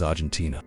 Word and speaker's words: Argentina: It's because the way it's supposed to be pronounced is Argentina, the way we say it in Spanish.